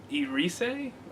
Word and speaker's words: Erice: Spanish film, released in 1983, directed by Victor Erice, spelled with an E, and then it's like E. Rice.